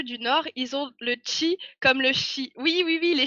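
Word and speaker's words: ち: Notamment, CHI ne se prononce pas chi, mais chi. En fait, c'est TCH.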